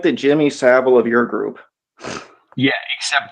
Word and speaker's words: Savile: It's pronounced Savile, but yeah, I do.